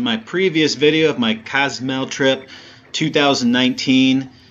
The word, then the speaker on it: Cozumel: previous video of my Cozumel trip 2019. Yes, I am saying Cozumel because I've been pronouncing it Cozumel, and that is absolutely goofy and wrong grammar.